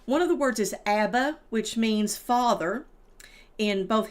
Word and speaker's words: abba: So, one of the words is abba, which means father in both Hebrew and Arabic. And it's pronounced abba and uh imma is mother in Hebrew and Arabic.